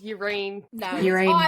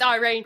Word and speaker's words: Irene: yeah and confusing yeah my brain thought it was urine but it's Irene it's Harmon Irene I